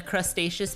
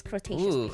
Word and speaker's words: Cretaceous: luxury here guys and we're in the crustaceous period or what's it called but I think it's like kind of pronounced like crous Cretaceous Cretaceous Period remember that um that